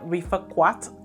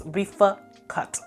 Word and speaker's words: Rifaaqat: I've been saying Rifaaqat, like I pronounced the U the way it was spelled. I guess I was wrong. It's Rifaaqat, okay?